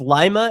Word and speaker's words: Lima: It's Lima. It's not Lima. I think I was calling it Lima. Sorry. Lima would be Peru. Lima, Peru.